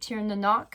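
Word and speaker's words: Tir na Noc: It has different names depending on what region of the world that you're in in Europe, but I called it tier nanok.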